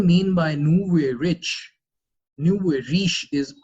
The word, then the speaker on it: nouveau riche: what do you mean by new way rich new way riche is how you pronounce it it's a French thing for people